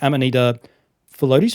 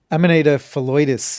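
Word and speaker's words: Amanita phalloides: Amanita float. Am I saying that right? Amanita felitis is the pronunciation I'm going to go with. And that's because Dr. Tom May said it.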